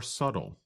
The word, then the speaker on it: subtle: other differences are more subtle that's spelled s u b t l e but we do not pronounce the letter B in the word subtle describes something that is